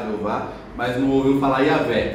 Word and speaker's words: Jeová: É porque biblicamente no hebraico é Yahé. Mas como não se podia pronunciar o nome santo de Deus, para evitar pronunciar em vão esse nome, adicionaram as vogais de Adonai ao nome Yahé. Aí ficou a pronúncia de Jeová, que a gente conhece por Jeová.